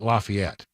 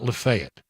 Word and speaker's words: Lafayette: Lafayette yeah in Louisiana they call it Lafayette not lefet who's wrong I I I because Lafayette is the correct pronounciation but here is I